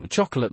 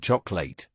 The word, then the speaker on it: chocolate: It becomes camera or chocolate often becomes chocolate. Yes, the middle O is often omitted.